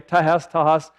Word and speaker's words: tahas: It's the same consonants pronounced the same way, tahas.